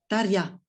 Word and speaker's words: Tarja: Tarja.